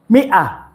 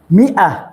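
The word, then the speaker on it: مائة: it shows us that the al if here is silent silent al if this al if is just a kind of decoration in that word so alif is included to the spelling but cannot be pronounced we don't read it so we say mia mia maton what is the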